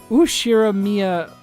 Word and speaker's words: Ushiromiya: It's made up of the characters for fight and person, and it's pronounced battler. Put it all together and you've got Ushiromiya battler.